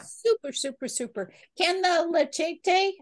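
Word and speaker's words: leachate: Can the lecete, how do you say that? You say lecete? I call it leche tea, leche. But it's leche. Like, you know, like when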